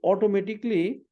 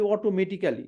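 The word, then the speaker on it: automatically: programme two adjust দা temperature মানেই হচ্ছে ইটস অটোমেটিকলি আমরা অনেকে বলি অটোমেটিক্যালি হ্যাঁ আসলে ইংলিশে কোন মানে কালি বলতে এটা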